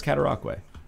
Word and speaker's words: Cataraqui: When people go, what is it, Cataraqui? We go, we don't go, well, that's logical, but that's not how it's done. We go, no, it's all right, it's Cataraqui. That's a tough word to pronounce, you know?